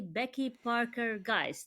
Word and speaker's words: Becky Parker Geist: Today, I have with me Becky Parker Geist. Did I pronounce it right? Yes, you Becky did. Parker Geist.